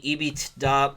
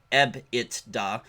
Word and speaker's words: EBITDA: So she was talking about the EBITDA multiple. Some people would prefer me to pronounce it EBITDA, but that would be saying B twice.